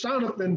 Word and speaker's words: Seanathan: sitting there man uh my name is jonathan kind of like jonathan but it's always mispronounced